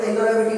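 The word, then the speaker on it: interrogative: इसका जो सही उच्चारण होता है बेटा वो इंटरोगेटिव होता है, इंट्रोगेटिव नहीं होता है। बहुत से ज्यादा बच्चे इसको इंट्रोगेटिव इंट्रोगेटिव कहते हैं, लेकिन वो उसका गलत प्रोनाउंसिएशन होता है।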